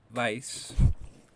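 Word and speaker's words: vais: only to say you all go which is vice and you all informal in Spain is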